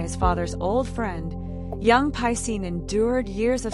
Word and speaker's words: Piscine: Named after a famous Parisian swimming pool by his father's old friend, young Piscine endured years of schoolmates mispronouncing his name as Pissing.